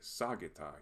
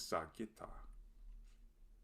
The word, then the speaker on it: sagitta: but it is also an example of the accent rule that requires the emphasis to fall on the second to last syllable instead of the third to last in words with more than two syllables in which the second to last syllable has a short vowel followed by two consonants. We might be tempted to say sagitta here, but the correct pronunciation is sagitta.